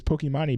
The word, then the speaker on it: Pokimane: I do know enough to know that the proper way to say her name is Pokimane, but I don't care.